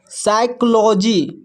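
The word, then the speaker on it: psychology: यहां पर देखिए पीएस पीएस जो है एक साथ है तो यहां पर पी साइलेंट है। इसको पढ़ते हैं साइकोलॉजी।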